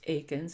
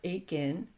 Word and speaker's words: Eakins: side the earliest known my name is eans it's actually pronounced Akin technically and or Ain okay this is my